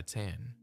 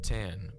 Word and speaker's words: tan: Nevada Reno sweatshirts and tan because that's the childlike pronunciation of the Japanese suffix Chan which is often used